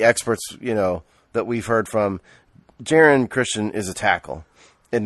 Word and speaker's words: Jaron: It's Jaron, by the way. The Redskins sent their pronunciation guide out. It's to us the other week. It's Jaron.